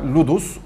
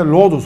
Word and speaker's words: ludus: Yunanca ludus, oyun demektir. Latince'de lodus olarak telaffuz etmişler. Fransızlarınki ise ludus.